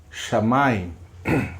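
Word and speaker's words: שמים: O A de novo aqui, sendo com a pronúncia diferenciada. O Y. O I. E o M. Qual ficou a leitura? Shamayim.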